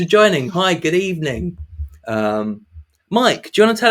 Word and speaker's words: Miek: my name is mike which is pronounced mike or mayek not meek which everyone incorrectly pronounces uh i'm from new